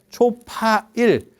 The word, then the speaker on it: 초파일: 어 4월 8일을 초일 이렇게 초파일 초 처음에 8일 8일 중에서 대장 그래서 4월 8일을 초파일 초일 초파일 이렇게 가는 거거든. 어 4월 초파일 예 이렇게 어 발음이 그렇게 가는 거예.